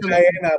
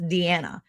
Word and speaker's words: Diana: But no, I say Diana, but now I know because Deanna called me out too. Deanna. So it's Diana, pronounced Deanna.